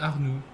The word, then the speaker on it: Arnoux: René Arnoux. René Arnoux. Okay. I was right about the X being silent. Okay. René. Yeah, the X is silent.